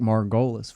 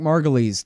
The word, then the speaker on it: Margolis: to make it easy spelt like Margolis I called them Eric Margolis for a long time because I never asked him how to say his name Eric margulies calm spell it like Margolis he also writes at